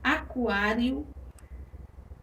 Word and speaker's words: aquário: Perceba que nós temos aí um ditongo na última sílaba. Um ditongo que é formado pela vogal I e pela vogal O. Então, acentuaremos essa paroxítona, né, na penúltima sílaba, que é aquá. O acento agudo fica aí acima da vogal A, indicando que é uma vogal aberta.